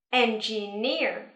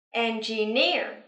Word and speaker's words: engineer: Trọng âm giờ vào âm tiết thứ ba nha. Engineer. Hai lần nữa nào. Engineer.